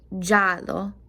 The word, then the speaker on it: giallo: G-I-A sounds like ja. So this is going to be giallo.